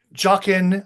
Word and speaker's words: Joachim: Uh, Joachim Jockin, I think we called him Jockin, was how he said his last name.